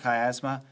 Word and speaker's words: chiasma: Yeah, that CH is pronounced like a K. The optic chiasma.